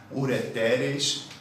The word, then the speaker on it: ureteres: A pronúncia é essa, ó, não tem nenhum acento, mas ó, ureter no singular, ureteres no plural.